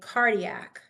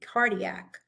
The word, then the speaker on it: cardiac: C makes a hard K sound when it precedes any other, also G. Anything other than E, I, and Y. So we say cardiac, and it kind of it pronounced like a K, cardiac.